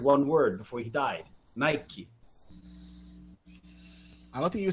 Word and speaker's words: Nike: __ ] up okay with nike nike which one's correct if you buy it from aliexpress it's nike it's not it's spelled n-i-k-e right but people say nike where's the it means